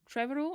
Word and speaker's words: Trevorrow: jurassic world directed by colin trevorrow i think that's how you say it's kind of smell like tomorrow so that's how i'm pronouncing it that's it yeah and